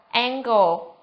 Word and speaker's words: angle: Trường thứ nhất là cái chữ cái n của chúng ta được phát âm là âm ng. Nếu như chữ n đó đứng trước âm k hoặc là âm g mà chúng ta học trước đây.